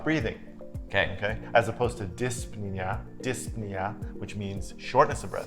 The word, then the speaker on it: dyspnea: As opposed to dyspnea, which means shortness of breath. Sounds funny. Dyspnea, shortness of breath. There's a silent P in it.